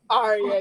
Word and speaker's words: Aria: Ariel? Aria, yeah.